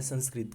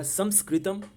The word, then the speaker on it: संस्कृतम: पंजाबी, ये संस्कृत लिखा हुआ है, लेकिन सही प्रोनाउंसिएशन क्या है संस्कृत का? संस्कृत या संस्कृतम। तो ये इंग्लिश वाले लोग ऐसे लिखेंगे ना, लेकिन हमें जब बोलना है, वो भाषा है, तो संस्कृत कैसे होगी? संस्कृत होगी या संस्कृतम, ऐसे ना होगा उसका प्रोनाउंसिएशन।